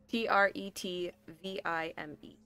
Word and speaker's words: Tretvime: There's some Tarvik Tretvime. Spell that last name? Hmm? How do you spell that last name? Tretvime. Trevime. Tvime. Like vine, but with an M.